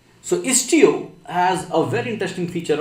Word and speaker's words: Istio: is actually istio is t o we are pronounce it as istio so istio has a very interesting feature of traffic splitting